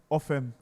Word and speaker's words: Ofem: My name is Ofem. Ofem. That's how to pronounce the name.